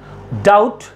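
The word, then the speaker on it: doubt: यहां पर बी क्या है? साइलेंट है।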